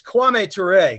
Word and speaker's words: Kwame Ture: I don't want to get the pronunciation wrong. It's Kwame Ture, correct?